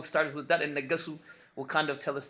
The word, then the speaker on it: Negesu: Negesu, I think that's the right way to say the name is Negesu.